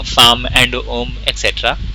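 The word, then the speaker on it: homme: मैन होमे होमे नो इट्स नॉट एट ऑल होमे में it's loam एलपस्ट्रोफ एच ओ ऐश O double M and then O at that and इट्स ओम एच is always silent French people don't know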